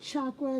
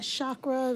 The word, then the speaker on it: chakra: there this the root chakra and it is pronounced chakra not chakra the people pronounce stuff ch chakra the mul